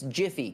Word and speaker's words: GIF: this but i'm right the creator of the goddamn lake standard said it was jif but the internet again